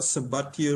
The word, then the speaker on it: Sabatier: from biogas, whereas the second reaction is the Sabatier reaction. The what? For the Sabatier. Sabatier reaction. Okay, Sabatier. Let me just spell it slowly so that the others can also know.